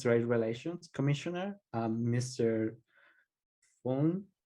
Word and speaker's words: Meng Foon: relations commissioner um Mr phone is that how I said it right yeah main phone yeah all good awesome um